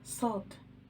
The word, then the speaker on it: ص: The letter Sad. Sad. It has no counterparts in English. It is pronounced s, s, s. It is the heavy form of the letter Sin.